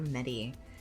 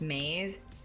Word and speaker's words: Medb: name they call her medy medy that name is pronounced mave it is not a oh that's fair